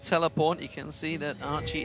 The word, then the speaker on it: Archie: You can see that Archie, it is pronounced Archie, by the way, ladies and gentlemen. I'm aware there is another Archie in Team Fire at the moment, I believe it is, but they are both pronounced the same.